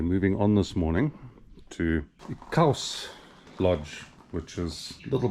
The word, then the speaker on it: !Xaus: Xaus Lodge, excuse the pronunciation. I think acceptable is to say Xaus.